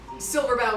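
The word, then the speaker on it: Silverbow: a i a s Silver Bow is spelled phonetically um like the bow of a tree okay that is not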